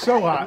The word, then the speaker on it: Socha: the great noi so SOA SOA excuse me I I mess it up all the time no SOA and it's spelled spelled s o c h a so it's very fanatic